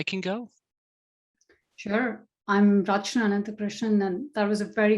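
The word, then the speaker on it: Ananthakrishnan: and then i can go sure i'm rajna anantha krishnan and that was a very good pronunciation of my last name uh i'm with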